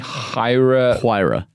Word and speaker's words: Huayra: The Pagani Huayra. Is that how the Italians say it? That's how everyone says it. That is how Horatio Pagani says it.